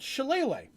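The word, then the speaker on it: shillelagh: cartoons and stuff always have them it's called chilele i did not know the spelling of chile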